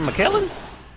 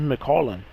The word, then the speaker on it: McCollum: What's it, McKellen? It's McCollum. I'm country.